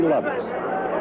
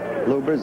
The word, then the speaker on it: Lubbers: a Tali against Rudy lovers or lubbers it's pronounced both ways lubbers is probably more technically correct anyway it's the way